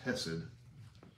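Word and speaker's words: חסד: this is very bad c-h-e-s-s-e-d is the transliteration but it's pronounced hesed right um well i'm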